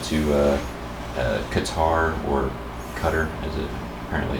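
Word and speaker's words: Qatar: actually I went to uh uh qar or Cutter as it apparently it's pronounced cutter really um yeah but so JJ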